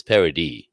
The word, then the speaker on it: Paradis: saying your name as Paradis. It just has French. The only thing is, because it's a French name, you don't pronounce anything after the last vowel, so it's Paradis.